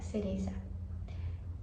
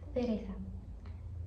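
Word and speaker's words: cereza: No espanhol fica cereça. Cereça. Cereça. E aqui vale destacar que, por exemplo, se você aprende espanhol, o espanhol da Espanha, aqui eles falariam Teresa, Teresa.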